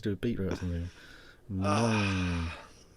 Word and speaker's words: moong: That's spelled, I should clarify, MOONG. But that's obviously being converted into English. Mong. That's Mong. Egg fried.